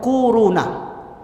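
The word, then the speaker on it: كورونا: kwau row nah Hai korona bacanya tuh kuruna akhir-akhir ini bukan Tibet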